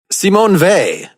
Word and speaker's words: Simone Weil: you should see Seattle Samoan vay which I realized that was the pronunciation or at least a pronunciation upon watching the documentary an encounter with C Mon vay but I think for Americans while wheel now let's say they just because I looked at a bunch of stuff online and every lecture podcast you can find they pronounce it as fait I don't simony Vey